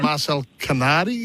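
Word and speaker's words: Marcel Canadi: Yeah, you do have a press conference a little later on this morning, and you've got an Austrian midfielder, Marcel Canardi. Is that how I pronounce it?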